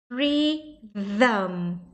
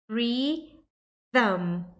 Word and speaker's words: rhythm: Então, racism, fica com som de Aí aqui você vai pegar o TH, que é o soprinho, que você vai rir e soprar com a língua entre os dentes. E vai fazer um zam no final. Então, rhythm, rhythm.